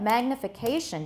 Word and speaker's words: magnification: tap the degree of magnification depends on the lens now in theory magnification the point he wants to make is magnificat the mag and the k are about the same pitch right but is that